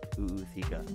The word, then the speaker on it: ootheca: They hold their, and I have been pronouncing this wrong for years, an oootheca inside them. Yeah, it's Google it. Oootheca, which is a fancy name for their type